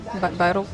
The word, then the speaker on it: Bairro: That's Bairro. I want to say it like in Barcelona, but Barrio Alto, but it's not.